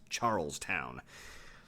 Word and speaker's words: Charlestown: And yes, before you give me a hard time about pronunciation, I know that these days people call it Charleston, but back in the 1700s it was Charlestown. 2 words, Charlestown.